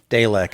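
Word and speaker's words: Dalaq: was d-a-l-a-q the way it was spelled um dalek is how they pronounce it he wasn't having it he was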